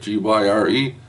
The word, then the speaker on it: Gyre: Gyre.